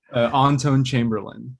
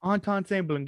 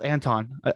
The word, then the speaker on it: Antón Chamberlin: Today I'm sitting down with the, who I forgot to ask how to pronounce his name. Antón Chamberlin. Antón Chamberlin. God, I thought it was Anton.